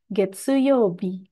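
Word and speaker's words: 月曜日: jadi di sini saya langsung aja bikinkan daftar cara baca mulai dari hari Senin sampai hari Minggu yang menggunakan kanji ini. Senin, Getsuyobi.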